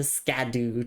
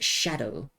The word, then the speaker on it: Scadu: And also, welcome in Wonder Waves, the Scadu tree. No, it's it's pronounced shadow. I know it's written scadu, but it's actually shadow.